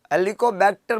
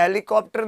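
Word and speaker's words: Helicobacter: प्यारे दोस्तों हेलिकोबैक्टर pylori, H pylori, हेलिकोबैक्टर बोल रहा हूँ मैं, हेलीकॉप्टर नहीं बोल रहा हूँ।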